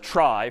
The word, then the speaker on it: trie: it's short for retrieval but pronounced try for weird historical reasons, but a try is a tree each of whose nodes is an array.